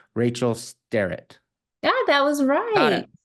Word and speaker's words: Starratt: All right, so my name is Rachel Starratt. Thank you, Cody, for the pronunciation.